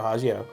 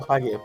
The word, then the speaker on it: Hagio: similar vintage was Moto Hagio. Yeah, Moto Hagio. Is it yeah. Hagio or Hagio? Hagio. Hagio. I don't know why my instinct is to always pronounce it like it's Italian.